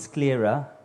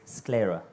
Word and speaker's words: sclera: You have two pronunciations. One is sclera, the other one is sclera.